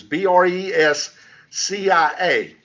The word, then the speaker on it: Brescia: They were initially started by a brother named Arnold of Brescia, which is Brescia.